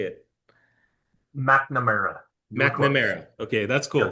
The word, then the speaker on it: McNamara: McNamara.